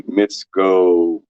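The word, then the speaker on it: Mikovits: Tom, who I appreciate the most when they talk about that man is Judy Mitsko rhymes with Fitch, right?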